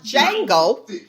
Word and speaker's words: Django: yeah i watched the django and i oh the j the d is silent let me get that right i watch django and seeing that that